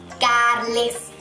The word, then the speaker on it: Carles: Carles. You don't have to say the R, it doesn't matter.